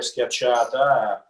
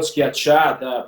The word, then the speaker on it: schiacciata: I write it with the K so people can pronounce it. And it's really it's a flatbread, yeah. Because if I wrote schiacciata, people, you know, they were gonna struggle through the reading.